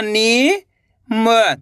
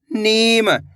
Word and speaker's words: नीम: चलिए देखिए, ना में बड़ी की मात्रा नी म, तो मिलके बन जाएगा नीम।